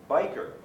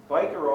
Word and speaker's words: Wiebe: However, I always have pronounced his name Biker, like Hell's Angel.